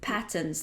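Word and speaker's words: Patons: Patents? Well, was it Patterns? That's how it's pronounced in England.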